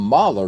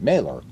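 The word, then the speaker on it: Mahler: Well, see, I call him Mer because of the the the composer Gustav Mer.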